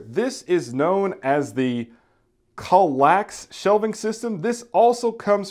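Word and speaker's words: KALLAX: we have here this is known as the colax shelving system this also comes from Ikea now I'm pretty sure I'm mispronouncing the shelving system name but it is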